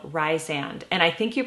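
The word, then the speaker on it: Rhysand: And this one, in this book, there's a newer character called Rysand. And I think you pronounce his name Rysand, but I like Rysand in my head.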